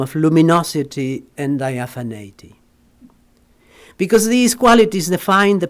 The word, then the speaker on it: diaphaneity: Is it how you say diaphaneity? Diaphania. Well, yeah, it comes from diaphania, no, but in English, diaphaneity, a term that is expressively pervasive in his poetry.